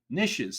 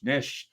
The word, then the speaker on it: niche: buyer personas dictate your niches so Niche nishe um easily two different ways to pronounce it potato potato tomato tomato